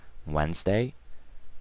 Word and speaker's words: Wednesday: to these silent okay so don't pronounce the D Wednesday Thursday Friday and Saturday